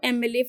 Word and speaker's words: MLA: the next one Mr Rakesh Mohan is a MLA from kpur again the same thing happens over